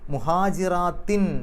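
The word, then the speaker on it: مهاجرات: എന്നും പറയും അൽ മുഅ്മിനാത്തു മുഹാജിറാത്തിൻ എന്ന് കഴിഞ്ഞിട്ട് തൻവീൻ മുഹാജിറാത്തിൻ എന്നുള്ളതിന്റെ അവസാനത്തിൽ തൻവീൻ അതിനുശേഷം ഫാ ആണ് ഫാന്റെ മുമ്പ് തൻവീൻ വരുമ്പോൾ ചെയ്യുക മറച്ചുവെച്ചുകൊണ്ട് മണിക്കുക അപ്പൊ മുഹാജിറാത്തിനു ആ ഹുന്ന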